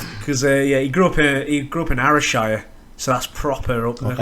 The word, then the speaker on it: Ayrshire: Because he grew up in Ayrshire, so that's proper up there. Ayrshire, is it? AYR. I thought it was ARY, Ayrshire.